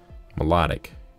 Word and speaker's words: Milotic: the video phoebus to melodic or Milotic I don't know why you would pronounce like that it's like melodic it's like a song right melodic got the